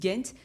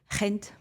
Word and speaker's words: Gent: Et donc dit bah les Français disent mais euh euh les anglais disent Gent et les euh bah en Dutch c'est hent.